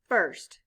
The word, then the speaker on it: first: i r s t the letters i r stand for the sound er blend with me f er